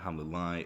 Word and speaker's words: Hamelin-Laie: I am the head of boarding at Hamelin-Laie International School, Barcelona. Perfect. Hamelin? Do you pronounce it Hamelin?